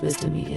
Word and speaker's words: WDMN Media: WDMN Media, which we affectionately pronounce as Wisdom Media sometimes, is the independent creative engine behind this podcast and a whole lot more.